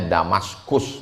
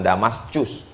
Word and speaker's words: Damaskus: Membacanya Damaskus, bukan Damascus.